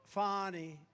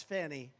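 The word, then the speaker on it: Fani: right has anybody fonny it's pronounced fonnie F A ni I that's Fanny but she likes it fonnie when she became the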